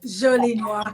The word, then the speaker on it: Jolie Noire: So, Jolie Noire, did I pronounce that right? Yeah, Jolie Noire.